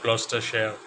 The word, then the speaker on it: Gloucestershire: He did mention all that, but first he did tell me that it is pronounced as Gloucestershire, and I did thank him for that as well.